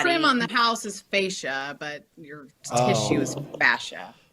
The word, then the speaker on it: fascia: you're probably the most expert yeah FAS okay fascia and fascia and on how to say fascia oh yeah on what so fascia is the body trim on the house is fascia but your tissue is fascia that's right because